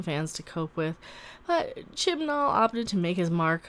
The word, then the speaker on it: Chibnall: Moffat was replaced by Chris Chibnall, wow, I said it right. I didn't say chinballs this time.